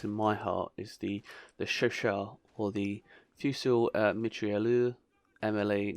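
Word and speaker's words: Chauchat: But I know Chauchard is correct.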